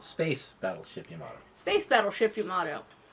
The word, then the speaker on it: Yamato: Battleship Yamato Space Battleship Yamato and see I said it right cuz on Saturday all I could say was Yamada I remember I've been